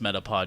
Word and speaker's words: Metapod: It's pronounced Metapod, you guys.